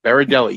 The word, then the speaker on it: Berardelli: we tell the people yogi berra going into a deli beridelli you nailed it perfectly